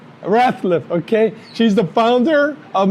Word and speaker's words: Ratliff: Ratliff. Ratliff, okay.